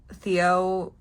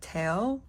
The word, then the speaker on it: Teo: so you know, like, Theo prefers, like, Teo as, like, the pronunciation of his name, but both are correct. Like, he just said recently he prefers Teo, and I think it's going to be easier to differentiate him and Kiho that way. Just saying like his Korean pronunciation.